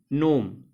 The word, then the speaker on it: GNOME: The option is A, GNOME. In this particular word, G is silent.